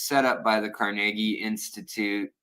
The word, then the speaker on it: Carnegie: by the Carnegie Institute, or it's Carnegie, but we could say Carnegie Mellon if you want to pronounce it like that. That's how everyone used to pronounce it, and then they're like, it's actually Carnegie. But we're gonna say Carnegie because I think it sounds better.